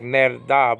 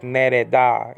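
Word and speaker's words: נֵרְדָה: I used to pronounce it like nerda, but I think it's really like nereda.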